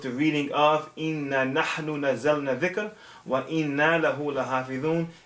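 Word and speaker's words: نزلنا: I said inna anzalna al-dhikr wa inna lahu lahafidhun, and the correct pronunciation or the correct reading of the Quran is inna nahnu nazzalna. Not anzalna, but nazzalna.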